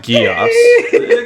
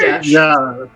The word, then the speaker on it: geas: I always thought it was Gios. No, it's Gesh.